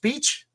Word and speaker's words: Veitch: Veitch is pronounced Beach. I've been saying it wrong for all my.